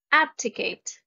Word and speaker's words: abdicate: ebb diminish reduce subside abdicate abdicate the stress is in the first syllable to abdicate is to